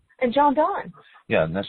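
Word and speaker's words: Donne: And John Dunn. Yeah. And that's spelled D O N E if you haven't read him.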